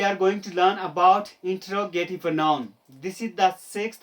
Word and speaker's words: interrogative: My dear friends, majority of India pronounce it interrogative. I'm so sorry if you are one of them. You are incorrect. You are pronouncing this word incorrectly. Its correct pronunciation is interrogative, not interrogative.